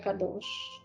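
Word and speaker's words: קדוש: lo va a escribir como Kadosh, esto se pronuncia Kadosh, esto es santo, ¿sí?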